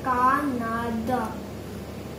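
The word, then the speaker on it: カナダ: जैसे मैंने कनाडा, हम कनाडा, जैसे कि मैंने कनाडा को कनाडा प्रनाउंस नहीं किया, मैंने प्रनाउंस किया का ना द.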